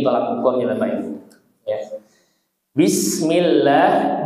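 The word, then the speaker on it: بسم الله: Bismillah. Bisnya jangan sampai membaca bismillah ya. Tidak boleh dipantulkan. Sasiu bas bis iya mengeluarkan ya desis ya.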